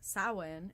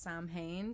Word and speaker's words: Samhain: okay so Halloween is known as sowhen in the pagan tradition in the wheel of the year which it looks like it should be pronounced Samhain so I'm still learning